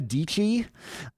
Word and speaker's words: Dietschy: First of all, her primal branding, like Sarah Dietschy rhymes with peachy.